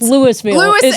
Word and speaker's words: Louisville: I grew up in, you mentioned my hometown, and it's spelled like Louisville, but it's pronounced Louisville.